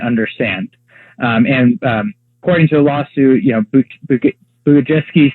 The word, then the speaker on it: Bugajewski: So there's a professor whose name is Andrew, I believe you pronounce his name Bugajewski, and he was a